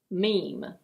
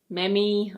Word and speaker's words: meme: Meme. It's not "me-mee" or "mee-mee". It's: meme.